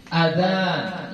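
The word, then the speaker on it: آذان: Kalau telinganya banyak berbentuk jamak, maka dia kita baca azan, ya, azan ini jamak, telinga. Nah, yang ini kita cara bacanya azan, ya, hamzahnya ini dibaca pendek, ya, azan, ya.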